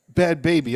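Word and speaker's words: Bhad Bhabie: even know, is it Bad Barbie? Is it Bad Bobby? Is it Bad Baby? Bad Baby, okay. Baby, but it's spelled like that.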